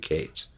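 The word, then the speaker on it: Katz: Matthew Kates spelled k a TZ but he pronounced it Kates on the first air airplane album he managed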